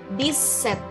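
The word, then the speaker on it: dix-sept: boleh bunyikan sekaligus ya memang harus dibunyikan sekaligus this site Hai semuanya jadi jangan di putus-putus Jadi langsung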